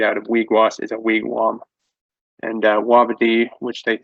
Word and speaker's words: wigwam: so and then uh if you hear a wigwam it should be pronounced wigwam that's that's how we say